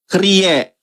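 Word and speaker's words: κύριε: Kalau tujuannya adalah Yesus harusnya haen hauto ho krie. Ya, kurie tulisannya dibacanya krie bukan kurios.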